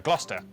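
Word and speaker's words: Gloucester: meant to be said Basics sester is pronounced stir Lester wer gluster w at the start of the final syllable is silent norch Beric subk e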